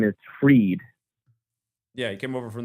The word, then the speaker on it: Fried: And Max Fried's full name in the Latin cipher, it's called now, Max Dorian Fried, it equals 619.